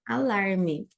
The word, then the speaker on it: alarm: é o sinal do alarme então aqui alarm quando a gente fala palavras que forem com m a gente sempre vai fechar a boca alarm para falar isso E aí signal parecido